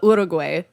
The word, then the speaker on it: Uruguay: I guess they pronounce it uh Uruguay. Uruguay. Yeah. But still Uruguay. Great. We say it all down.